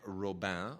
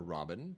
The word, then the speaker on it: Robin: our daily Poison by Marie Monique roban or Robin depending on who what country's pronunciation you want to use you know we we